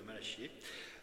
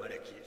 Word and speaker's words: Malachie: lecture du livre de malachier euh ou malaqué c'est suivant que que l'on prononce voici j'envoie mon messager